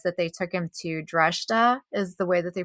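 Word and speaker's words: Dreshdae: And so what I thought was interesting was that they took him to Dreshta, is the way that they pronounced it in the book, which I never realized that that was the capital city of Korriban.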